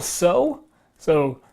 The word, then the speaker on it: Tso: you even know so general so so silent T General Tso's chicken you